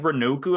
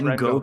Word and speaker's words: Rengoku: I thought someone said Renoku. I'm like, okay, that's how you pronounce it.